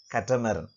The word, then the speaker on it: catamaran: right katumarum but uh it is not pronounced in the same way in english it is pronounced as catamaran so c-a-t-t-a-m-a-orian so if